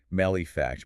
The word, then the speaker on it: Malefax: Is it malefact or is it like artifact? It's a funny detail. The source explicitly mentions this. They're guessing it rhymes with artifact. So, malefact based on the Japanese subtitle. I'm going with malefact.